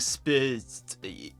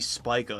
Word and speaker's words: Spica: I don't want to lose monetization, so I quickly Google the name and apparently it's pronounced Galaxy Spica and it actually originates from a Latin word.